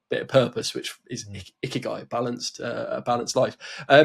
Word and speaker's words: Ikigai: what the Japanese name, it might be called like Ikigaga or Ikigagi or something, but it's I've absolutely butchered the word there, but I might do ask the ask the audience, Japanese methodology for balanced life. It's called Ikigai.